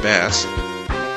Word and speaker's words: Bass: U Mega Man and bass or base depending on what defin or what pronunciation you use I'm going to try